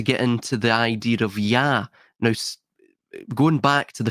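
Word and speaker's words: יה: 15 in Hebrew is pronounced Yah. Now, because of its connection to the holy tetragrammaton, it's typically altered, it's changed, right? It's usually not pronounced as Yah in common parlance, but that is how it is actually pronounced in the Hebrew language, or it's how it's at least codified in that language.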